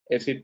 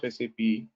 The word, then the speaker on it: SAP: So as I told you, it should be pronounced as SAP, no SAP, no SAP, right?